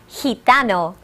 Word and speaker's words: gitano: Gypsy in Spanish is gitano. El gitano. Listen to the he sound of the letter G. Gitano.